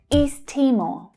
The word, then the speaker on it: East Timor: So that's the long E vowel sound in east, east, and Timor. So the stress is on the first syllable. But note that there is a linking between these two words that happens when English is spoken, because east ends in the same consonant sound that Timor starts with. We can push those words together and we only pronounce the t sound once.